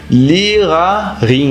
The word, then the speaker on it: Lehrerin: E a pronúncia, você meio que vai continuar com esse A, então é Lehrerin, entendeu?